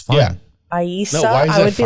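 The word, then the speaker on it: Eiza: This is a serious name. Yeah. Okay. Go ahead. I just want to know if you're joking or not. I It's pronounced Aisa.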